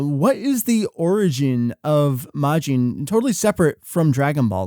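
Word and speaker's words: 魔人: Um, and the thing is, okay, there's actually two different words for majin that are both pronounced as majin, which is sort of confusing, but yeah, it is.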